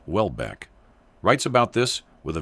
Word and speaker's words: Houellebecq: Michel Houellebecq, pronounced Wellbeck, writes about this with a very sharp pen, as shown below.